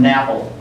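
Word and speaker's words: NAPL: a lot lately is the term napple nap rhymes with apple stands for non aquous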